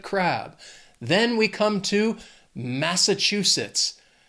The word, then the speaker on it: Massachusetts: They also have 4 syllables, and the stress is on that 3rd syllable, that chew. Massachusetts.